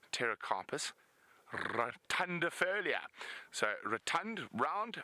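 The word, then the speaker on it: Pterocarpus: a Terra carpus well it's actually Terra carpus but it's spelled PT Terra carpus rund Folia so rund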